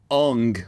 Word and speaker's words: Aang: Like, it's the same when they pronounce Aang as Ung. Like, It's supposed to be the actual Chinese pronunciation of the words, but obviously that's not the reason.